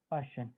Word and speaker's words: Paschen: Sir third वाले की PASCHEN, spelling PASCHEN Passion, bracket BRACKETT।